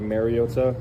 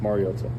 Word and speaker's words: Mariota: Um I think it's been said over the years like Mariota. Um which is incorrect and it's pronounced Mariota.